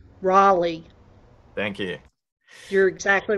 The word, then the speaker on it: Raleigh: North Carolina question yes the correct pronunciation is Raleigh not Rally Raleigh thank you you're exactly